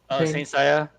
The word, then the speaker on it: Saint Seiya: How do you pronounce this? This anime Saint what? Saint Seiya.